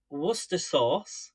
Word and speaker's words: Worcestershire: I've got some Worcestershire sauce. Always makes me laugh whenever anywhere around the world says Worcestershire, and it's Worcestershire sauce.